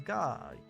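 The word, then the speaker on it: ガ: This is Ga, or Ga, pronounced in the word garden, or God, I guess.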